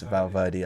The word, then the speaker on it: Valverde: Valverde, I think. That's Valverde. That's it. Valverde, My pronunciation, you know me, my thing.